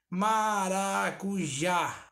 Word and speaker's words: maracujá: Maracujá. Ó, maracujá. O já tem um certo destaque, então ele é a sílaba tônica.